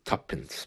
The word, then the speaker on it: tuppence: worth as we say we pronounced it as toppings because that's the old English way of saying two pens it might be easier